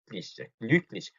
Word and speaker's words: glücklich: 자, ich bin glücklich. 요거 발음. 한 상태에서 소리만 이를 내니까 그죠? 위하고 다르죠? 위 해버리면은 이 되면서 입이 양쪽으로 벌어지는데 그러면 안 돼요. 해가지고 그대로 하는 입 모양을 유지해야 된다.